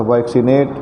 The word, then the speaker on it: vaccinate: ये नियम है कि डबल सी के बाद यदि ई या आई आए तो पहले सी को क और दूसरे सी को स पढ़ा जाता है, वैक्सीनेट।